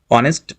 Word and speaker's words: honest: Because this is exceptional case where we are pronouncing like what is the pronunciation of honest? That is honest. So, this pronounce we pronounce like this way, honest, not honest, okay?